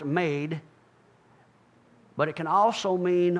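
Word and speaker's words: מד: The word for garment here is Strong's number 4055, mem dalet, pronounced made, but it can also mean armor, judgment, and stature.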